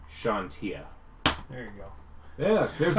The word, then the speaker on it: Chauntea: It's Chauntea. That's a Shaw sound. Shantia.